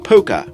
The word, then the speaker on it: Puka: fair bit easier when it's pronounced Puka, as it is in Albanian.